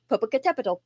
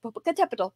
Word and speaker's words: Popocatepetl: It has seven syllables, which is one reason why it's so hard to say.